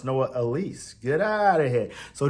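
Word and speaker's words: Noah Elliss: So I just found out it's pronounced Noah Elise.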